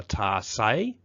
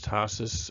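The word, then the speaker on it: tarsi: The ants have evolved with a special foot piece, a hooked foot piece called a tarsay. That says tarsus, but it's pronounced tarsay.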